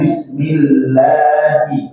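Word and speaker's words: بِسْمِ اللَّهِ: Bismillahi, segitu saja ya, dua harokat, 1 2 ya.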